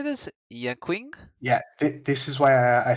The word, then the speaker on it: Yanqing: Yanqing? Yeah, this is why I said don't worry about not knowing those pronunciations, because we were getting to the Chinese name characters. This is Yanqing.